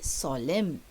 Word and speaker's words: solemn: Okay, now see, the word solemn is pronounced without saying the N. So the N there is silent. So you don't say Solomon, you say solemn.